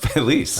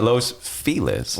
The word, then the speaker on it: Feliz: los feliz feliz because it's a Spanish word Felice like and that's the word it's a real word it's pronounced Felice I know why do you call it Los felizer Hispanics will do it